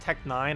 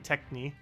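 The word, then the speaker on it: Tec-9: after level 1,000 yeah it's actually pronounced Tech 9 I keep saying Techni uh I don't know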